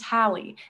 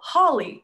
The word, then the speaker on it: Hallie: And even if I tell them, "Hey, my name is Hallie," they say, "Oh, Holly. No. Hallie rhymes with Callie.